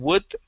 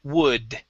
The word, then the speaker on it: wood: the word would uh trying to pronounce a d at the end of the word instead of a spanish d saying would okay it is wood wood good nice job